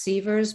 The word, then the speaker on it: Siewers: It's pronounced Sievers, but it's spelled Siewers.